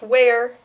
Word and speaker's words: where: This one is pronounced where, as if it were spelled W-A-R-E, and this one is pronounced were, as if it were spelled were.